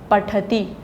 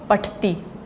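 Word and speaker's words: पठति: रूपों तो क्या है पठती नोट पटती पटती जब बोला तो था में नहीं बोला वो गलत है पठती पाठक बोलते हुए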